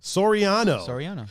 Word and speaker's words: Soriano: How do you say her last name? Soriano. Soriano. Right, Pun? Mm-hmm. Soriano.